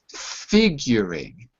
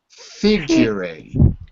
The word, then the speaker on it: figuring: Figuring. Figuring. Now you? Figuring. Figuring. Good. Not figuring, but figuring. Figuring. Figuring. Good. Figuring. Edson, I'm still hearing fee. I want to hear fi.